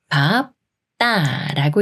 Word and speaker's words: 밟다: 말이 와서 밟다가 되는데요 비읍 받침이 초성 디귿을 만나면 초성 디귿이 쌍디귿 소린 뜨로 바뀌면서 밥 따라고 읽어요 밥다 밥다 다음 말도